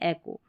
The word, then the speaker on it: echo: अब इको भी आपको प्रोनाउंसिएशन सुनाई देगा, लेकिन जो करेक्ट और सही ज़्यादातर इस्तेमाल होने वाला प्रोनाउंसिएशन है वो है एको।